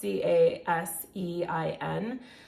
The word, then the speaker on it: casein: I think believe that's how that's pronounced, Casein.